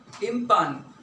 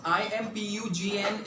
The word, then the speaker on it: impugn: distorted okay the last for the day is impugn this is how it is pronounced i MP u GN is pronounced as impugn by the ways basically